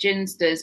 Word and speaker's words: Ginsters: discuss if you wish i've heard that it's pronounced jinsters but i've always pronounced it ginsters so i think i